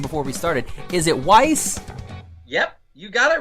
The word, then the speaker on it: Weisz: Yes, I have a Z in my name, and some people go Weisz or Weisz, but there's no T. The Z is silent. We just go with a double S sound like Weisz, and it's Hungarian in origin.